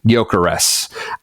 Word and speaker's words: Gyökeres: It won't take long here, but so it is pronounced with like a very, very soft G at the beginning and then like an S like snake at the end. So Gyökeres.